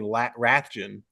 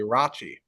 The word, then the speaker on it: Rathjen: We've been saying Rathjen. It's actually Rachi.